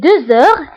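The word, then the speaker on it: deux heures: فبالنسبة هنا أيضا غتلاحظوا أنني قلت 2 heures هنا نطقت لا لتر زد مع أنها ما كايناش. pourquoi؟ باسكو عندي h باسكو عندي لا لتر x كتبعها h دونك كندير لا ليزون وكنقرا 2 heures 2 heures. d'accord. كنطق لا لتر زد مع أنها ما مكتوباش باسكو درنا لا ليزون.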